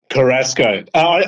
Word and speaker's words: Carrasco: Carrasco. You know what? The simplest way to remember it or pronounce it, Claudio, is think of Tabasco and add the car in.